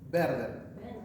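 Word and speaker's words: Werther: Werder. Se escribe W-E-R-T-H-E-R.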